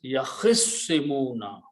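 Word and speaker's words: يَخِصِّمُونَ: So what we do, that instead of pronouncing two separate letters, we pronounce ta as a swad also.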